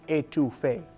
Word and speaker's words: étouffée: over saying that but crawfish etouffee is crawfish étouffée perfect let's get started heat your chicken stock